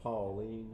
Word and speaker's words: Pauline: If you're from Pauline, it's Pauline. Pauline. Okay, so Yeah. there's a little more of a draw.